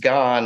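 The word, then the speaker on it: 癌: And he wrote the character for cancer on the whiteboard and said it's pronounced gone and means, you know, obviously cancer.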